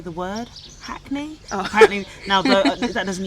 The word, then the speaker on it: Hackney: Apparently the only time I sound like I'm from Hackney is when I say the word Hackney. Oh. Apparently, now that doesn't even think because I actually pronounce the H.